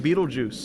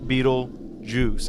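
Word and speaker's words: Betelgeuse: way it is because it's spelled Beetle gout Beetle G like the the star but they say it Beetle Juice I think I've said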